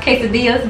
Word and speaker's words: quesadillas: I know it's pronounced quesadillas, but I call them casadas.